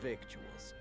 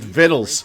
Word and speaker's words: victuals: Brook's finest Wares and victuals King R excuse you it's pronounced vles your and toast to